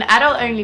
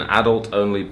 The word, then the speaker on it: adult-only: I have an adult-only buffet in my garage. I have an adult-only buffet in my garage.